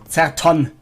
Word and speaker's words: ZertoN: This is ZertoN, or ZertoN if you would pronounce it in German.